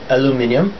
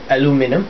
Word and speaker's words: aluminium: What you get out of it is all completely aluminium or aluminum, however you pronounce it in your country. We are educated in the British English over here in Singapore, so it's aluminium.